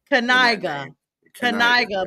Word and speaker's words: Knigga: And you pronounce the K. Knigga.